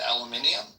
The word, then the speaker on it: aluminium: So they read aluminum and they pronounce it aluminium? Yeah. That's a whole extra syllable, isn't it?